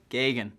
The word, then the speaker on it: Geoghegan: Some of you guys may have seen my name written down, and there's probably a couple of redundant vowels in my name. So it's just Gagan. Very simple to actually pronounce.